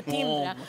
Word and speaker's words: timbre: Jag tycker din klang, din timbre, för att använda det franska ordet för det timbre, för uttalet, är fantastiskt.